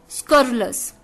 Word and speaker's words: scurrilous: अच्छा वर्ड है, शायद आपने सुना भी होगा, स्कर्लस। स्कर्लस, स्कर्लस। जी हाँ दोस्तों, थोड़ी सी प्रोनाउंसिएशन अजीब सी है इसकी, स्कर्लस, SCURRILOUS, स्कर्लस, स्कर्लस, स्कर्लस, SCURRILOUS, स्कर्लस।